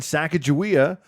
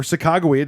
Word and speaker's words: Sacagawea: And Sacagawea, or Sacagawea, depending on how you say it, was recognized it